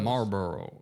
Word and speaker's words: Marlboro: Another word I have trouble with is Marlboro, like the cigarettes, Marlboro. Marlboro. I don't think you say the L. The L is silent. Marlboro.